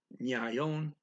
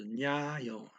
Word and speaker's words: ngayon: And then today, Nagayon, excuse me, Nyayon. It's two syllables, NGA. The NG is a ny. So Nyayon.